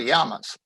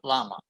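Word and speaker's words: llama: native camellits first the yamas i'm going to mention that i am pronouncing this as it is in spanish the double l is pronounced like a y in english so it's yama not lama if you say lama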